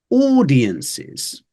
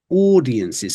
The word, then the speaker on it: audiences: next one is uh audiences audiences specifically this Au sound at the start which many people struggle with so audiences and two more we're